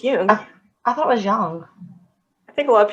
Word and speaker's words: Jung: It looks like Jung, Jung, but it's pronounced Jung. It's actually pronounced Jung.